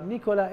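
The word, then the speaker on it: Nicolas: سالي نيكولا، مرحبا نيكولا، نيكولا اسم شخص منتهي بالاس بس هو مفرد، نيكولا، سالي نيكولا، مرحبا نيكولا.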